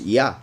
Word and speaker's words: יה: Then, as I already explained, these two letters are pronounced Yah, as in Haya, and as in Eliyah, and a bunch of other prophets.